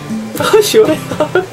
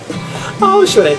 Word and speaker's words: 시원해: Ah, 시원해. Ah, 시원해.